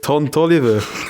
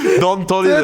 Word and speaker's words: Don Toliver: Ton Toliver. Don Toliver. Der Ton Toliver. D. Ton Sorry, Toliver. ich habe es falsch ausgesprochen. Don Toliver. Ich habe es nicht mit T wählen.